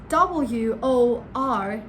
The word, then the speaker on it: word: that in British English, whenever the letter R is after a vowel, you are not going to pronounce it. Yes, you heard that correct. For example, the word word. So it's W-O-R-D. So the letter R is after a vowel, you're not going to pronounce it in British English. So it's just word.